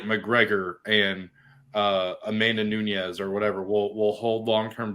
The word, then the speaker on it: Nunes: Like we're assuming guys like McGregor and Amanda Nunes or whatever will hold long-term value. One day you're going to say her name right. Amanda Nunes?